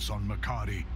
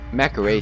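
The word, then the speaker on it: Mac'Aree: oh yeah yeah boys Macari that's how you pronounce it Macari mecha ray sounds so much cooler peace but now I know how to pronounce it Macari the Makri and makka ray sounds so much better what is this alright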